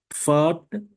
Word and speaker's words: Pfad: We have another combination of P and F. Pfad. Pfad is path.